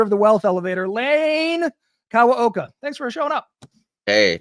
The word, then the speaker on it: Kawaoka: Welcome to the show, author of The Wealth Elevator, Lane Kawaoka.